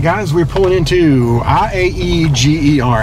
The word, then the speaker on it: Iaeger: All right, guys, we're pulling into Iaeger. How would you pronounce that? Well, you're cheating. If I didn't know. Yeah. Iaeger.